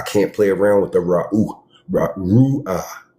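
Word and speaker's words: Ruach: I can't play around with the Ru'ah. That's how you say it. Ru'ah.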